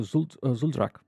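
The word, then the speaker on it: Zul'Drak: You then go to Zuldrak. I'm pronouncing correct? Yeah, Zuldrak.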